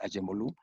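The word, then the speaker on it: Acemoğlu: El nuevo institucionalismo a partir de Douglas North, y luego Daron Acemoglu, como acá en México se le dice, Acemoglu, la pronunciación turca es Acemoglu.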